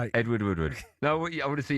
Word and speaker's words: Woodward: You said Woodwood Wood. What's his first name? Edward. What's his surname? Wood. That's what I just said. Edward Woodward. You say his name. Edward Woodward. Edward Woodward. It's the same person. His name's Edward Woodward.